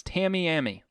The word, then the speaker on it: Tamiami: No, it's Tamiami.